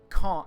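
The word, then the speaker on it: Caen: or cat or can it's con like con con however you want to say it con con like a fox in japan anyway the problem was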